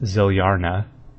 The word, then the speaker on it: Zilyana: And then Zilyana, or Zilyana, which is pronounced Zilyarna.